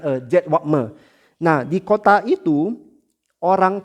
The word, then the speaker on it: Jedwabne: Mungkin aku salah aussprachenya, tapi dia Jedwabne, Jedwabne.